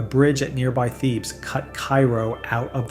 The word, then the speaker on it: Cairo: Cairo, pronounced Caro, sits at the very southern tip of Illinois where the Ohio and Mississippi rivers meet.